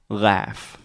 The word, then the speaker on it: laugh: laughing laugh laughter so we write this word l a u g h but how would you describe the final sound in this word f yes essentially it is the typical F sound like in my name